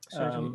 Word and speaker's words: Soji: And somebody was mentioning that book, the black and white book from Vicky Caro and do I pronounce it Soji or Soy? Yeah, Soji, yeah, Korean.